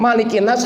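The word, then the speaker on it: ملك الناس: pun boleh enggak salah Bagaimana dengan malikinnas malikinnas harus dibaca pendek Kenapa karena tidak ada perdebatan antar ulama malikinnas itu bukan mad asli enggak enggak ada madnya sama sekali bukan Mad Malik itu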